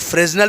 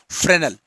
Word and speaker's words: Fresnel: Types of diffraction number 1 है, अब लिखा तो स्पेलिंग के हिसाब से लोग फ्रेजनल पढ़ते हैं, कहीं कहीं के पर फ्रेनल लिखा हुआ है, हिंदी में शायद फ्रेनल लिखा हुआ है, FRESNEL।